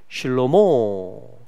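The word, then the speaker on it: שלמה: 그것을 그 이름을 이제 성경 인물들 중에 실로모 히브리 발음으로 하면 실로모가 이제 그 이름이 됩니다.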